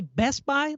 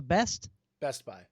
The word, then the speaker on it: Best Buy: say that best buy you say best buy like your emphasis is on the best best buy yeah there's i'm kind of like no emphasis there's no emphasis it's all neutral best buy why don't you say